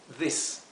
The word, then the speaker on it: this: Aquí lo he transcrito con doble I, a these, porque quiero que se pronuncie como una I larga, these, ¿ok? Mientras que este es una I corta, this.